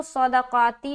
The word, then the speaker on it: صدقات: اور کتنے باریک ہیں۔ تو یہ جو صدقاتی جو لفظ ہے اس میں پہلا حرف صاد موٹا ہے، دوسرا دال باریک ہے، تیسرا قاف موٹا ہے، چوتھا تا باریک ہے۔ تو اس کو اسی لہجے میں نکالیں گے، موٹا پھر باریک پھر موٹا پھر باریک۔